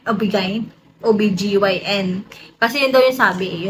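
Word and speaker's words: OB-GYN: gn ob G obig ob gyn kasi Yun daw yung sabi Yun daw dapat i-pronounce sabihin na obgyn hindi obig ob gine B ganon Basta bahala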